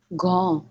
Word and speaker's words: grand: Grand.